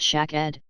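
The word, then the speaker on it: שקד: 22 Interestingly however, in Hebrew and Dutch, the word for almond, Hebrew, pronounced shak-ed, Dutch, amandel, is also the word for tonsil.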